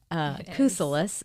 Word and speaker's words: Kousoulas: It is Greek, Kousoulas, so now I know that.